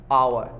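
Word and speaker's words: hour: एन आवर, आवर, हम इसको क्या बोल रहे हैं, अलिफ वावर, आवर, एन आवर।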